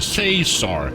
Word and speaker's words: Cesar: It's Professor Cesar. Like laser with a C.